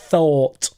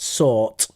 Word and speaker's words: thought: Thought. Thought, not sought. Sought. I sought it was good.